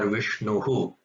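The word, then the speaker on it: विष्णुः: And then when it's after an U sound, it becomes Vishnuhu. Without Visarga, it's Vishnu. With Visarga, it is Vishnuhu.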